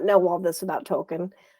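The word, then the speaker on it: Tolkien: I did not know all this about Token, or Tokin, I guess it's pronounced.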